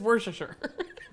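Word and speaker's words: Worcestershire: because everyone's like oh how do you say it just worsh sure and if you mispronounce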